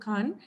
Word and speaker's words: Khan: It's a few years ago, Shah Rukh Khan. And the South Indians can't pronounce that kh sound well, right? We say Khan.